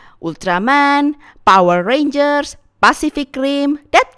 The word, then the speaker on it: Ultraman: And yeah, I pronounce it as Ultraman. I know it's probably pronounced Ultraman in English, but I'm already so used with Japanese pronunciation, so yeah, I will say it as Ultraman from now on.